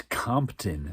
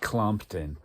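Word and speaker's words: Kompton: Where this one is all about, it's Compton, not Clompton.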